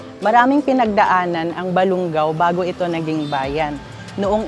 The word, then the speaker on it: Balungao: po siya ng kwento na balon ugaw which ang ibig sabihin po ay young widow at naging ang pronunciation po Later on a balung ang Balungao bago ito naging bayan